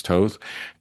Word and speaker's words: Toth: There was a a comic artist named Alex Toth, if I'm pronouncing his name correctly. That's not Toth, it's Toth.